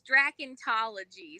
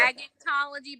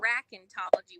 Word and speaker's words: dracontology: It's Dracontology. So like There you go. Dragontology, but Yep. Dracontology with a C.